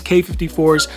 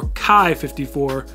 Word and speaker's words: Quai 54: Now, seeing the spelling, you might have thought it was QUAI 54 or QUAI 54, and there's different pronunciations. I think generally accepted it's K54 or QUAI 54, maybe depending on who is saying it. I'm sticking with K54 because that's what I heard in some of their official videos.